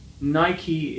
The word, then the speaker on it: Nike: And we have the word Nike. Nike. Some people also say Nike, but Nike is also one of the pronunciations of this word.